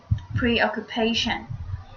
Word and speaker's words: preoccupation: is the last word preoccupation preoccupation the stress falls in the fourth syllable this phenomenon means when